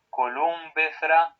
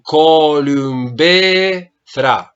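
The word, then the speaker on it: κολυμβήθρα: Columbethra. Bravo. Atención, columbethra. El acento sobre la eta. Columbethra. Y la pronunciación de la ypsilon.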